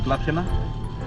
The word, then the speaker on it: Plathiena: Because I know I'll butcher the name, I'm going to let my young Greek friends pronounce the name of this beach. Plathiena, that's the name of the beach.